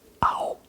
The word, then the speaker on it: ao: C'est juste un A et un O.